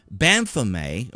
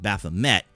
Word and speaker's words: Baphomet: depicting the pagan idol Baphomet, which is the French pronunciation, or people here in the U.S. pronounce it Baphomet, at the Iowa State Capitol, says he saw this blasphemous statue and was outraged.